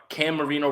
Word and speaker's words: Cam Marino: Cam Marino rhymes with Dan Marino.